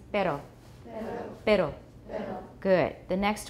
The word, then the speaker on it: perro: voiced alveolar trill, rrr, and that's the word for dog, which is spelled P-E-R-R-O in Spanish. Perro.